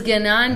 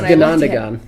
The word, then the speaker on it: Ganondagan: I thought it was Gananda at first. It's Ganondagan. Oh, you're probably right.